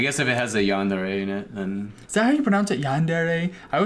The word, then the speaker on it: yandere: I guess if it has a yandere in it, then... Is that how you pronounce it?